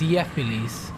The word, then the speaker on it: Gephiles: Right, it's pronounced Yephiles.